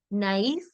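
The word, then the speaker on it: naïf: two vowels here, but you got to pronounce both of them separately. So instead of this being nol or nef or eti, it's going to be pronounced separately. So Noel, naif, eti, main, aigu. Okay, so you put a little bit of emphasis on both the on both the vowels.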